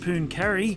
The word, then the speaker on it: Pooncarie: absolutely magic as we head to pun Cary or punon carry however you pronounce it yes however you pronounce it and it is pronounced pun carry that's where we were